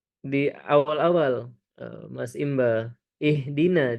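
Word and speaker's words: اهْدِنَا: Ee di awal-awal ee Mas Imba ihdina jangan ih kalau dialirkan ihdina jadi hak kecil ya. Jangan dialirkan, jangan dialirkan ee sukunnya. Ha sukun di sana ha besar.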